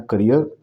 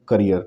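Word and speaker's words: career: Next word दिया है इसमें करियर। प्रोनाउंसिएशन बहुत ध्यान में रखेंगे, दोनों की प्रोनाउंसिएशन में अंतर है। इसको बोलते हैं करियर, कई लोग इसे कैरियर कह देते हैं। करेक्ट प्रोनाउंसिएशन क्या होगा? करियर।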